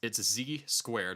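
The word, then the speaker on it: Z²: It's Z squared. It's pronounced Z squared. But the Z is the Z from his cult classic Ziltoid the Omniscient, which, if you are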